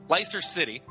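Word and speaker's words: Leicester: ler ler Li ler they don't they don't they don't pronounce the Chesters over there it's l i c s t r yeah just it' be ler ler City there you go uh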